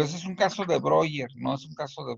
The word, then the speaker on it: Breuer: No sé Breuner, no sé, Breuner, algo de Breuner. eh, se pronuncia Breuer, pero bueno, se escribe Breuer, pero con él Ajá.